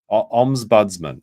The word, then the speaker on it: Ombudsman: Ombudsman.